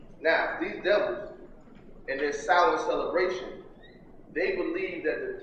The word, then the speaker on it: Samhain: S-O-W-E-N, Samhain. That's how it's pronounced. Samhain is the Druid name for what you call Halloween.